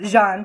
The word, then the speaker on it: Jan: It's pronounced Jean, but it's Jan.